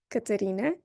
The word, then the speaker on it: Katerina: And this applies, for example, when a non-native speaker will say my name with all 3 A's closed, Katerina, I seriously melt a little bit inside.